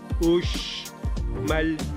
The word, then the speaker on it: Uxmal: Uxmal, con la X. La X lo pronunciamos como Uxmal.